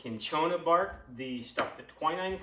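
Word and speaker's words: cinchona: a lock on the i think it's pronounced kinchona bark the stuff that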